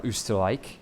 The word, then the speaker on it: Österreich: I was going to say Vienna's in the east, Austria, or Österreich, as I believe is how you say this in German. Over in the east, we don't really know what's going on.